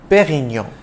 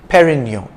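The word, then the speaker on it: Pérignon: pioneer of superior champagne it's a soft d in dom and you don't enunciate the n at the end of perignon but rather pronounce the preceding o nasally perignon if you have difficulty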